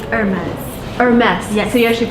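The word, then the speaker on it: Hermès: how to pronounce your brand name uh it's hermes or mess yeah so you actually pronounce the last it's a french brand so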